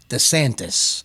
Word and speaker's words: DeSantis: ron desantis ron desantis my wife corrects me all the time desantis okay i said it right now so uh that would